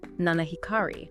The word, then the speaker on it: 七光: And the pronunciation guide for that is Nanahikari.